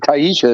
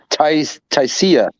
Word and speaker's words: Taisia: It's not even Taisha. It's Taisia.